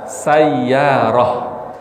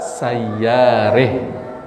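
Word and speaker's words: سيارة: Kalau Imam Hafiz an Asim. Imam Hafiz. Gimana cara bacanya? Wajaat sayyarah. Ya. Tapi Imam Kisai bagaimana cara membacanya? Kisai. Wajaat sayyarih. Apa bedanya? Diimalahkan ya.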